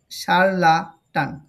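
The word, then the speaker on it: charlatan: হয় সারলাটান ঠিক আছে সি এইচ এর উচ্চারণটা হবেশা সারলাটান সারলাটান যে নিজের ভোগ জ্ঞানের বড়াই করে মানুষকে ঠোকায়।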